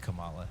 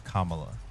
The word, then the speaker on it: Kamala: completely honest with I I said Cala is Kamala God damn it I